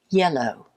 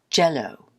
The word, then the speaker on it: yellow: I used to tease my Latin American students by asking them to pronounce yellow. They would sometimes say jello.